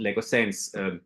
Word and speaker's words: Laugesen: And how could that become like a concept that I called LAUGESEN, because it rhymes with.